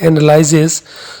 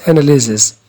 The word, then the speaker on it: analysis: analysis analysis is tajia there are some people which read it analyzes so it is analysis analysis means tajia and